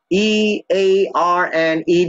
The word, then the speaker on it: earned: E-A-R-N-E-D, but you hear that British English, you hear that earned like T. Americans, they like to say earned, but sometimes you hear T. So the E-D can be pronounced like T in most English speakers. I earned, because you don't hear much the D sound, you hear the T sound, earned, I earned, it's okay.